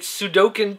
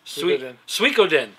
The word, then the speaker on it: Suikoden: Sony needs to light a fire under someone to get Sudoku 2 on the PSN. I love that Sudoku. I don't know if that's really how you pronounce that. Suikoden? Yes. Suikoden.